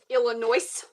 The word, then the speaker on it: Illinois: Illinois. Yeah. Where we put letters in, but you're not supposed to pronounce them.